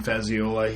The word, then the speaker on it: Fazziola: Not to be confused with Evan Fazzita or Evan Fazzioli. Those are different people. Pronounced correctly and not with any extra letters thrown in there.